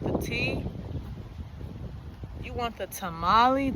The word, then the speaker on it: tamale: You want the tamalei? T is for tamalei. Tamale. Tamale. Is that how you say it? I know it's not tamalei. They don't have those sounds. It's probably tamale.